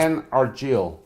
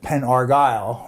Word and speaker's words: Penn Argyl: Penn Argyl, capital P-E-N, capital A-R-G-Y-L. A-R-G-Y-L. L. Pronounced Penn Argyl. Penn Argyl, but Penn Argyl. yeah, some people pronounce it Penn Argyle, which they think of the Argyle socks, if you're familiar with